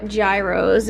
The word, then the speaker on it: gyros: we're going to do gyros don't get mad at me for the way i say that's just how you say it in new york okay so as you